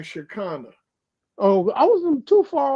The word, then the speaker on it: Shekinah: really the word now the word is like how you pronounce that that's like Chicana oh I wasn't too